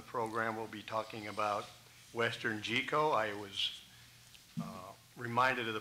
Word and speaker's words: WesternGeco: to the panel that it's not gecko. This is not about amphibians.